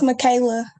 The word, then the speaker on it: Michaela: to pronounce it it's michaela okay i was about to say something stupid so that's why i'm glad i stopped myself i was gonna like have the c pronounced like an s okay but thank you